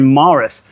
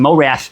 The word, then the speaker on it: Morath: So she's like, oh, say Eskra fucking flies back to fucking Marith. I said it right? Say okay, damn it, yeah. Morath. Yeah, I said like Mike Tyson, Morath.